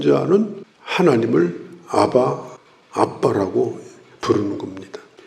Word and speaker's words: 아바: 하나님을 아바, 아버지라 부르짖느니라. 여기서 아바라는 말은 아람어로 아바, 똑같습니다. 발음이 아바.